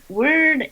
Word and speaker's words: Wyrd: name of our show word it's pronounced kind of like a combination of weird and word when you give someone